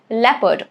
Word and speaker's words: leopard: It's leopard. O is silent here.